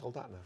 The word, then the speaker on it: Soldotna: Soldotna? Soldotna, yeah.